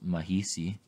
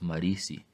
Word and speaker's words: mahisi: related languages for example we'll use mahisi for corn instead of the traditional yeti pronunciation of marisi it should be noted